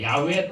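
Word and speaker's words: 야훼: 사실은 요코와 라울이 생겼는데 원래 원으로 하는 야구의 까 맞습니다 야외에 또는 이해 후에 라고 읽어야 봤는데 이걸 거 어제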